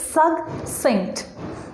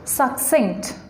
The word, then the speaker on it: succinct: this word we must know it's pronunciation it's pronunciation is succinct succinct now its meaning succinct means brief which bajas